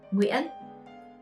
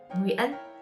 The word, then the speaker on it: Nguyễn: Number 1, the most common last name is Nguyễn. To pronounce this last name, you should start with the diphthongs in the middle, Y and E with a hat.